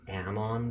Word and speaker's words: Amon: cracker it's true the neur mat the demon pronunciation is Amon though Amon so it's demon as if gross